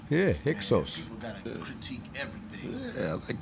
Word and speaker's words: Hyksos: Somebody said, did I pronounce Hiscos right? Yeah, Hyksos.